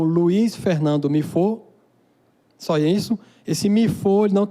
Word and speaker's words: Mifô: Mifo. A pronúncia é Mifo.